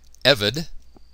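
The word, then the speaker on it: עבד: be a priest took evid notice the accent on the first syllable evid and that is a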